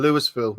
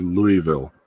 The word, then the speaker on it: Louisville: it wrong I suppose in the French you don't pronounce the S Tia no and and